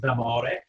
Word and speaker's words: D'Amore: My name is D'Amore, or in Italian it's pronounced D'Amore.